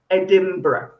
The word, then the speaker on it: Edinburgh: m for mother so it sounds like edinburgh edinburgh very good okay so